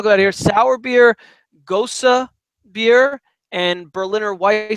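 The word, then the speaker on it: Gose: ghost of beer gos see it's but it's pronounced Gosa and it's basically a wheat beer that has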